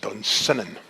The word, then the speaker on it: Dunsinane: But his castle was, as Shakespeare says, at Dunsinane. Except locally it's pronounced Dunsinane.